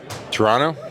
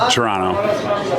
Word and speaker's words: Toronto: Shout out Shane Bieber's wife for letting him know that you do not pronounce the second T.